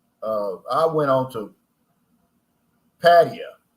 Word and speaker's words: Pattaya: I went on to patio that's what they that's how they pronounce it I was calling it Pattaya but I'm glad I